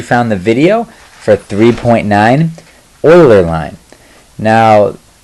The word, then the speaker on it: Euler: I'm glad you found the video for 3.9 Euler line now it's spelled e-u-l-e-r but it is pronounced Euler and he is